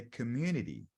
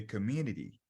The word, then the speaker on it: community: Community or community, ok? Você pode pronunciar o T ou não, vai ficar ao seu critério. Não pronunciando o T de maneira forte fica mais americano, pronunciando fica mais britânico. Community, mais britânico. Community, mais americano, tá bom?